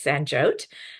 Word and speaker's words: Sanjyot: Yes, my name is Sanjot. Uh rhymes with vote.